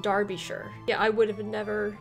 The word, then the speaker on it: shire: uh george lund says all the counties with shire in the name are pronounced sure not shire yeah sorry about that